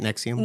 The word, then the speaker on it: NXIVM: So that's how you say it, NXIVM? NXIVM, and it's spelled NXIVM, which is the most pretentious way to spell NXIVM.